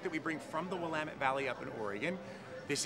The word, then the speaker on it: Willamette: We are back at the Great Kern County Fair, and I am with Michael Compton of Willamette Valley Pie Company. Nicely done. You pronounced Thank it perfectly.